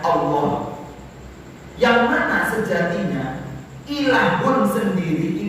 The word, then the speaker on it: Allah: Alif lam ketemu ilah, kalau digabungkan terus dari perubahannya, perubahan di sorot itu perubahan i'lal ibdal, itu nanti al ketemu ilah dibacanya Allah.